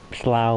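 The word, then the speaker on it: Slough: it is slow it slaugh which is another place in england is spell s-l-o-u-g-h which doesn't seem like it is said how it's spelled either but slow it which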